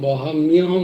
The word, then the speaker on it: वहाम्यहम्: আচ্ছা, ময় জফলাটা না বহাময়ম হয় না, ময়ের জফলার উচ্চারণটাই দেখো কেমন হয়, মিয়া, মিয়া, মায়া, মায়া। তো বাহাম্যাম মাহাম হয় না, তো তাই জন্য বাহাম্যহম হয়ে যায় মিয়া। তো এই জন্য উচ্চারণটা এরকম, বাহাম্যহম, বাহাম, বাহাম মায়হম নয়।